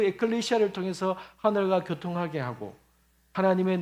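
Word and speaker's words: ἐκκλησία: 교회라는 단어를 말할 때마다 원어적인 말 원어의 발음으로는 에클레시아 때문에 에클레시아로 제가 이야기를 하고자 합니다 그래서 제가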